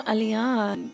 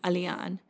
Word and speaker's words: Aliyaan: It's like Ali and Yan.